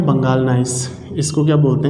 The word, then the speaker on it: gneiss: English में जब आप लोग इसको लिखोगे तो ये होगा आप लोगों का बंगाल, ठीक है, स्पेलिंग होती है GNEISS, तो जी साइलेंट हो जाएगा यहाँ पे को, ठीक।